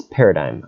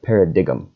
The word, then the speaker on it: paradigm: to spell and pronounce its paradigm not para dig'em it's basically a fancy